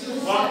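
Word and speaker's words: walk: वॉक में चलना। अब जो है यहाँ L जो है साइलेंट है।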